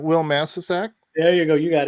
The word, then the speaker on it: Wil Masisak: You were like, Wil Masisak?